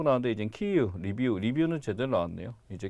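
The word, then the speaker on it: Київ: 여기 키예프라고 나왔는데 이제 키이우, 리뷰는 제대로 나왔네요. 이제 키예프보다는 키예프는 이제 러시아식 발음이 됐고 이 수도는 이제 키이우라는 이름으로 우크라이나식 발음으로 이제 맞춰야 된다라고들 얘기를 하고 있죠.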